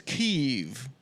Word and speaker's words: Kiev: just wanted you and of course the correct pronunciation is keeve you're going to make adam intro himself the